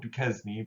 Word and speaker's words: Duquesne: called fort duquesne so it looks like fort duquesne but it's pronounced fort duquesne he's sent to go push